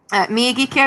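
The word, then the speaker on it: Miyagikyo: So kyo in Japanese means valley.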